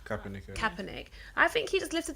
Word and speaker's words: Kaepernick: friend Colleen what's the surname how do I pronounce it Kaepernick Kaepernick I think he just lifted the whole lid